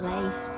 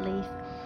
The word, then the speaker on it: Leif: everybody is so nice they say we should pronounce it lace not leaf um so to my